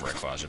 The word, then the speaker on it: Rayquaza: You only have to go this way in Emerald because of Rayquaza being here. It's pronounced Rayquaza, but that sounds so weird.